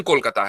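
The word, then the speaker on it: Kolkata: कोलकाता कर दिया चकि उसका प्रोनाउंस कोलकाता है ना बंगाली प्रोनंसिएशन कि इवन आप आप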